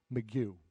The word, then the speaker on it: McGough: Did I say your name right again? I still haven't said it right. Could you say it, please? McGew.